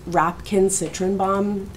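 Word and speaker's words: Rapkin-Citrenbaum: It's Rapkin Citrenbaum. That yeah. Well, no. I wouldn't know. No. It's, I can spell it.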